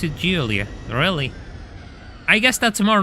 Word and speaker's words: Giulia: Yeah, you pronounce it Giulia.